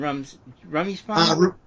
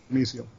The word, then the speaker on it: Rumisiel: Rummy Spawn? Rumisiel. I get that question a lot, but I've always pronounced Rumisiel.